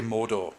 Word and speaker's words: Mordor: I think it's done by people who can't roll their R's. Yeah, So you Mordor. don't get the roll of the R, you just get Mordor.